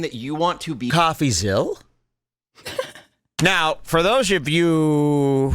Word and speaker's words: Coffeezilla: that's how it's pronounced it's not Zilla this isn't Godzilla it's coffee zal like Mel so you